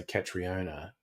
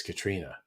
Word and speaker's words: Catriona: I suppose some weirdos might try and say Catriona, but I thought that's obvious, Katrina.